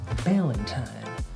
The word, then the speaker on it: Ballantyne: Ballantyne rhymes with Valentine.